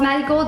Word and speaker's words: MaddieGold: It's because in Mexico, the way that you pronounce marigold, the R sounds like a D, so Maddie Gold.